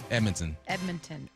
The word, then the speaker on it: Edmonton: And I'm watching Dallas against Edmonton. Now, yesterday I said Edmonton at the bar. They're like, no, Edmonton. Don't pronounce the D.